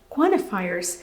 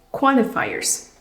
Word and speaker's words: Quantifiers: En inglés norteamericano, comúnmente en ciertos dialectos, la T es muda cuando se encuentra en la combinación N, T y después sigue el sonido de una vocal.